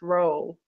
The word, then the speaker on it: Rollee: And by the way, my last name is pronounced Roll. Roll. So the E is silent. Okay, I've been saying Rolly for as long as I've known you. I'm sorry. Oh, that's quite all right. It's Roll, like Esther Roll from The Good Time.